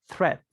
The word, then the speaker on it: threat: to be the pronunciation for this since it has th th remember that the first the first lessons only the sound of the air coming through your your tongue and your teeth threat threat choose a threat